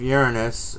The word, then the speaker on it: Uranus: during the sign of Uranus um yes it's pronounced urine is not your anus that when the discovery